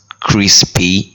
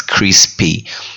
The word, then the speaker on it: crispy: It's not crispy, it's crispy, because I always mistake that a lot when I was starting out using crispy forms.